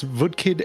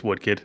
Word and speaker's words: Woodkid: I'm going to guess VKid and Lugvig Forsel for Death Stranding 2 on the beach. I love that you got the one wrong right. It's Woodkid. Yeah, I was